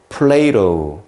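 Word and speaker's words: Plato: 플라톤을 플레이로 플레이로 이렇게 발음합니다.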